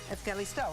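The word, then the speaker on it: Ευχαριστώ: Callisto? Evkalisto, right? Yes. Did I say it right? Perfect, Okay, thank perfect, you.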